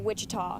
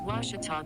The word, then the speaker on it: Ouachita: at a baptist university back in texas everybody pronounces it wichita but really it's ouachita washington washington how would you pronounce it it's washita baptist university get it right it's watertall people